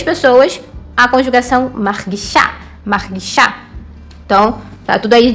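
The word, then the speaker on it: מרגישה: masculino para o feminino, que é acrescentada a letra rei no final e também uma vogalzinha ali, e ali fica sendo a sílaba mais forte. Então, para as 3 pessoas, a conjugação margishá, margishá.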